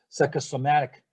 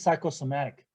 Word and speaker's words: psychosomatic: okay next word is psychosomatic psychosomatic uh p-s-y-c-h-o-s-o-m-h-e-i-c and again the uh the stress is on the third syllable so what is psychosomatic